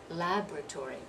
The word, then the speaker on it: laboratory: four syllables so laboratory laboratory by dropping that second syllable here it's not elementary